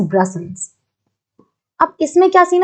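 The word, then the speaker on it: Brussels: ठीक है, इसकी प्रोनाउंसिएशन इज ब्रसल्स।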